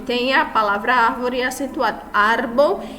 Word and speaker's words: árbol: Árbol e é a sílaba mais forte, então, a penúltima.